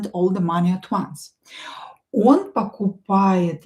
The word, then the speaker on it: он: Он not stressed. Pronounce it as a.